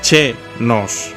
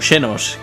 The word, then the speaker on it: Xenos: No puedo evitar pensar en el Valencia cada vez que dices che-nos. Bueno, tendría que pronunciarse como Xenos.